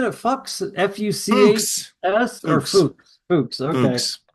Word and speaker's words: Fuchs: Were they pronouncing it Fuchs? F-U-C-H-S or Fuchs?